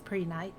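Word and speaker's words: prehnite: How do you pronounce it? It's Preonite.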